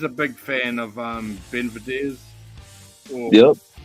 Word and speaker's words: Benavidez: like yeah he's a big fan of um Ben videos yep how do you say the name Ben videos benavidez yeah he's a very big fan of him